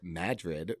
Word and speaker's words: Madrid: Madrid in Iowa is pronounced Madrid for some reason.